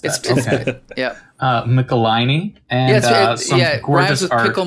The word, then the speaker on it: Michelinie: uh 3-1-3 and it's written by uh david mikalini am i pronouncing that right i'm not sure it's mickelini no way yep the last way that i'd pronounce it yeah uh michelini yeah yeah i just pickle my knee anyway